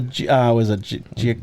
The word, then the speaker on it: Giacchino: I think it's the one that Giacchino, I think is how you pronounce it. That's right.